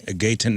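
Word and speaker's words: Gaten: Uh, is it Gayton? Is that how you say it? Gayton Matarazzo.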